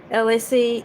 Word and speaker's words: ELAY: Once again, this is LA, pronounced like LA, like the city.